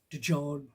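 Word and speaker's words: Djodge: His name is spelled D-J-O-D-G-E, George, but they pronounce it George.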